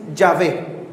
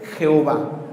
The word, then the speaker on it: Yahvé: Entonces, ¿cuál es el problema entre Jehová y Yahvé, Padre? ¿Son dos dioses? No. Es el mismo tetragrama, mal interpretada la pronunciación de las vocales.